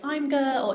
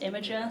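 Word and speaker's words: Imgur: three years some people think it's called like I'm Girl M gir but it's pronounced imager so a lot of fun anecdotes from working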